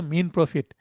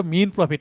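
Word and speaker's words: mesne profit: অন্তবর্তীকালীন মুনাফা ইংরেজি হচ্ছে মিন প্রফিট। এই উচ্চারণটা মিন প্রফিট। এস এর উচ্চারণ হবে না।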